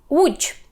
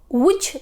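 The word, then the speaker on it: Łódź: принципі Човник човен уч що ми тут маємо важкого маємо в звук у до вимови так пам'ятаємо що в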